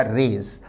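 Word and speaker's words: raze: आदि को गिराना ध्वस्त करना हमारा आंसर होगा रेज आर ए जड रेज का अर्थ है ध्वस्त करना विद्यार्थी ध्यान दें इससे मिलते-जुलते उच्चारण का एक शब्द है रेज रेज का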